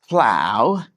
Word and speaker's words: plow: plow rhymes with cow plow rhymes with cow plow cow plow yeah I feel like